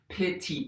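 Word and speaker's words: PITI: you a quick refresher pity payment is spelled p-i-t-i that's principal interest property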